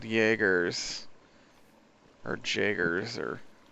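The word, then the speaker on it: Jaeger: these giant robotss called Jaggers or Jaggers or I'm pretty sure they were pronouncing as a yah sound uh yoggers something Jaggers uh and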